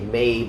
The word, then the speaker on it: Mabe: This here behind me is actually a Ma-bae. I guess it is Ma-bae. Supposed to be a MABE, I guess, but we pronounce things differently.